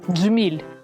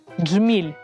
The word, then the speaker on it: джміль: звук Дж діти промовте джміль джміль звук Дж промовляється злито Зверніть увагу що під час вимовляння кінчик язика змикається з твердим піднебінням Отже ми можемо сказати